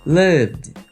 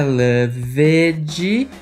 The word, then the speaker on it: loved: V nessa lista repeat Loved Loved não é Loved não é loveed esquece esse e que você tá querendo ler repeat Loved é praticamente o som do V e o d grudadinho Loved agora vem o terceiro